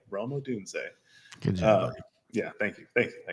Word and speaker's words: Rome Odunze: So now I know how to say his name, Rome Odunze.